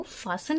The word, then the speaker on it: fasten: सो देखते हैं फासन, ये जो हमारा है FASTEN, ये जो हमारा है वो फासन है। सो इसमें जो टी है मिडिल में वो साइलेंट है, FASTEN फास्टन नहीं, FASTEN फासन, जो टी है वो साइलेंट है।